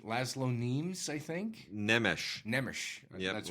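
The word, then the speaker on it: László Nemes: By Wade, you're the master of foreign pronunciation. Laszlo Nemes, I think. Nemes. Yep, that's Laszlo Nemes.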